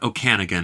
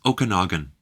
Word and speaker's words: Okanagan: Columbia's Okanagan Valley Okanagan it's not Okanagan it's Okanagan H he's more of